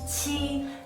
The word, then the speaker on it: qi: The only difference is that qi is an aspirated sound, so you need to exhale more and pronounce it stronger when you pronounce it.